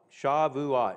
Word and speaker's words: Shavuot: pentecost or uh sukkot um no shavuot shavuot shah vua is how it's pronounced that's what the jews call it shavuot anyways chapter verse 2 chapter 10 now the